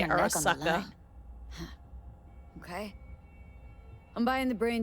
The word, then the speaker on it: Arasaka: Arasaka Even if D's she knows nuts. the studio's location, she's not gonna spill. I said it wrong. I need to say Arasaka.